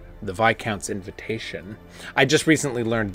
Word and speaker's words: viscount: we have to kill the baron H the vi Count's invitation I just recently learned this is pronounced VI count not Viscount um dissection kit yo this fools at the